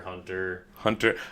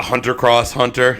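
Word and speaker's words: Hunter × Hunter: just hunter hunter right X is silent yeah but uh yeah I'm not hunter Cross hunter nope but that's pretty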